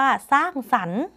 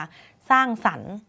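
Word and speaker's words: สร้างสรรค์: เป็น ควบ ไม่ แท้ ร เรือ เรา ก็ จะ ไม่ ออก เสียง นะ คะ ไม่ ต้อง กระดก ลิ้น ไม่ ต้อง ใส่ ร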